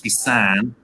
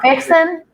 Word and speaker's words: Fixin: And you can see I went with Fixin today on my handle because although it's not pronounced that way, it's Fissan. It's not fixing? No.